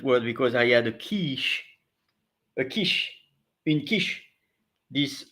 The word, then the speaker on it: quiche: of the day is in English it's pronounced Kish I think let's Discover